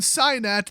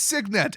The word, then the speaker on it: Signet: Next up, Arcane Cyanet. That's right, guys. It's actually pronounced Cyanet. Okay, I'm not going to go for that joke twice. It's Signet, as in the base word for signature.